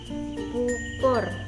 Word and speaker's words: pupur: Jadi untuk vokal ini ucapan U itu menyerupai vokal O yang biasa dibaca miring bagian vokal yang akhir. Lambang ejaan untuk vokal U miring ini yang kita pakai adalah U besar. Jadi contoh bacanya dalam bahasa Jawa itu yang pertama pupur, pupur.